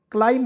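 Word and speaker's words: climb: आई एम बी लाइम इससे पढ़ दोस्तो लाइम क्लाइम हो जाएगा सी एल आई एम बी क्लाइम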